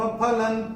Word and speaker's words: फलं: अब ये जो ल के ऊपर जो अनुस्वार आ रहा है उसके बाद का अक्षर है त, तो अनुस्वार के बाद जब त आएगा तो अनुस्वार का उच्चारण होगा न।